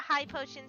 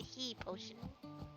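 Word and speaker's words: Hi-Potion: Some people pronounce that high potion, some pronounce it he potion. I pronounce it high. Like as in, hi.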